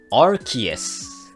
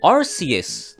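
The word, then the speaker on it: Arceus: なんですが発音は rts です本当は日本語と同じように rcs という風に発音する予定だったのですがアメリカのアニポケのナレーターさんが間違って発音したことからまあ公式で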